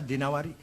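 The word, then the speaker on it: الدينوري: Al-Imam Wasyasib bin Qutaibah Ad-Dinawari. Jangan Ad-Dainuri bacanya, Dinawari. Jangan Ad-Dainuri, nggak ada kota Dainur, ada Dinawar.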